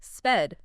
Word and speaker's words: Sved: in Hebrew, Suede is pronounced more like Sved, to be exact.